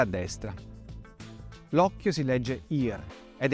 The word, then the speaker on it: ir: L'occhio si legge ir ed è il verbo fare.